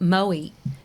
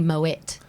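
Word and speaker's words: Moët: Well, they would be, but I dare say, like Moe, everyone calls Moe, but it's actually Moet. Okay. And even though it's the champagne is French, the guy Moet was Dutch, so therefore his name is Dutch.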